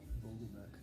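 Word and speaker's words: Vogelbach: Vogelback.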